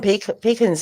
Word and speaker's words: pecan: it okay so patterns we call them pekens here pecans it depends where you live i i call them pecan i really do call them pecans but some people call